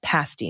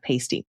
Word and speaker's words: pasty: Pasti is pronounced ah yes, pasti, not pasty.